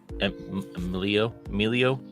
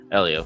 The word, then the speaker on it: Elio: could be a big hit with Emilio. Is that how you say it? Elio. Sorry, I already forgot it.